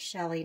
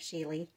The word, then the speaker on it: Shelee: i watched the more i believe it is pronounced shelly not sheila so i'm going to